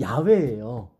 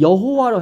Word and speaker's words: 야훼: 이게 원래 발음이 야훼예요.